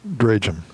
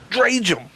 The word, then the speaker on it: Drajem: Drajem. Drajem.